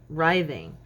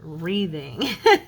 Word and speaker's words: writhing: that word right and it was writhing and I always pronounced it reading that's how I was taught and then similar I always